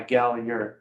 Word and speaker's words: Gallagher: It's the I sounds like a Y, Gallagher.